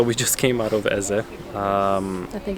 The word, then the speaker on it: Eze: So we just came out of Eze. I think it's Ez. Ez?